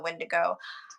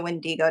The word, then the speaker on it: Wendigo: And one I was saying I was going with that kind of similar is the Wendigo or the Wendigo, depending on how you pronounce it.